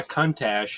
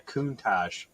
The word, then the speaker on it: Countach: manual box as well it's not a cuntash it's a countach yeah you've got to